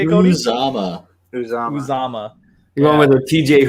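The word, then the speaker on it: Uzomah: Oh, no, little tight end CJ, who's Madada or whatever, however you pronounce his name, just absolutely just goes off. How you say it, Cody? Uzama.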